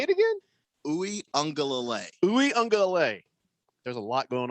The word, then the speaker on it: Uiagalelei: There's no N in his name. It's Uiagalelei. That's just how.